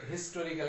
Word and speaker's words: historical: হিস্টোরিক্যাল, এইচ এ বসে গেলে হিস্টোরিক্যাল, এইচ এর উচ্চারণ হচ্ছে, হ্যাঁ, এইচ ইজ not silent here, এখানে অনুচ্চারিত নয়।